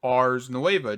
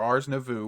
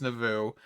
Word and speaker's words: Ars Nouveau: we are getting into Ars Nueva, just a little bit, or Ars Nouveau, whatever you want to call it. I know I say Ars Nueva, it's not pronounced Nueva at all, it's Nouveau.